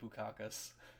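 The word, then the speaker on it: Bukauskas: I pronounce it Bukakis.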